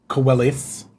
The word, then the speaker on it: Coelho: That was the Kevin Coelho. Not even kind of close to how you say my name. Coelis.